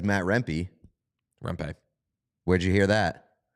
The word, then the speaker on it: Rempe: Everybody says Matt Rempe. Rempe. Where'd you hear that? The fucking pronunciation guide that's wrong all the time?